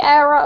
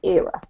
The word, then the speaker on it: era: And then this one is era rather than well, you can say era. A lot of Americans say that, but generally in the UK we say era, okay?